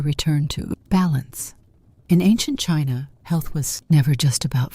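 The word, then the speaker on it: qi: In ancient China, health was never just about flesh and bone. It was about energy. The invisible vital force called key pronounced key flowed through every living being.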